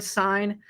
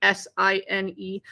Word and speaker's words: sine: spell out the word sine it would be s-i-n-e but usually we just see it abbreviated like this but it's pronounced like this it's not sin it's sine all right so then